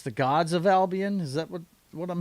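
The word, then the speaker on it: Albion: It's pronounced Albian. You confused me with that Albon Yeah, I know all about Albian.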